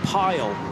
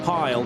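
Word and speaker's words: Pijl: The I and the J I'm always told by Dutch friends is pronounced with a Y in English. So let's go with Dan Pile, but he is known as Dan Arrow.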